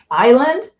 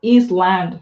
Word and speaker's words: island: about it oh yeah Island if you really if if you really have to read it it should be like is land right you have to pronounce it Island I mean there's so